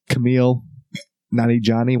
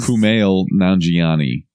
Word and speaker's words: Kumail Nanjiani: the best part about it they got uh Camille naughty Johnny what's his name Wow you butchered that coming back here you're a pile of crap the Camille's grape Keith Kumail Nanjiani Kumail Nanjiani he is actually hilarious you know